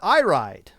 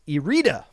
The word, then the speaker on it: Irida: Not I Ride, like it is read in English, but is Irida, is how it is actually pronounced, because I listen to the Moray Tavern podcast.